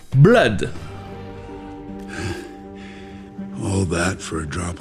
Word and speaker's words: blood: Ça se prononce avec le son E, blood.